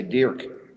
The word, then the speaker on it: Dirk: I should say Dirk. That's how he says it.